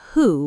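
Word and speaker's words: Hu: It is not "who" with a hard W. It is a breathy H, like you are fogging up a mirror.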